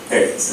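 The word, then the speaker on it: ארץ: It is the Hebrew word eretz, or eretz. It's the Hebrew word aleph resh zadi sofi, pronounced eretz, and spelled in English E-R-E-T-S.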